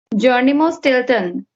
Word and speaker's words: Geronimo Stilton: Geronimo Stilton.